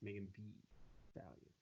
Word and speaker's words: Megan Thee Stallion: And make sure you say it right. Megan Thee Stallion. The Stallion. That's what I said. No, you said Megan Thee Stallion. It's Megan Thee Stallion. Megan Thee Stallion. There you go.